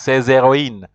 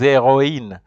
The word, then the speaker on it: héroïnes: It shows that you have to pronounce the vowels separately. For example, here you have to say ces héroïnes. Repeat after me. Ces héroïnes.